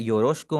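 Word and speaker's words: よろしく: इसकी प्रोनाउंसिएशन पे थोड़ा सा फोकस कीजिएगा। योरोशकु, योरोशकु, इसको आपने योरोशिकु नहीं पढ़ना।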